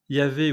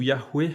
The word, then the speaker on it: Yahweh: Yahvé ou Yahweh, avec la prononciation hébraïque originelle, signifierait donc il est, il sera ou il vit.